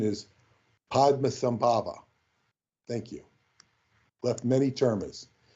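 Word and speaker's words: Padmasambhava: but I don't know and yes the correct pronunciation is Padma sambava thank you left many termas and of course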